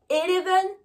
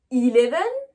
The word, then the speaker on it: eleven: les biens prononcé et vous vous rappelez que le e c est donc je ne dis pas heleven mais je dis bien eleven ensuite on a twente